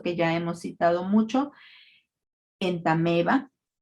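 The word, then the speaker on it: Entamoeba: cuando hay un diptongo, constituido en este caso por una O y una E, el sonido de la vocal que es diferente a la E se va a suprimir y es por eso que pronunciamos entameba.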